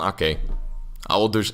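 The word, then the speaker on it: Aké: Why am I trying to pronounce this in English? It's just Nathan Ake.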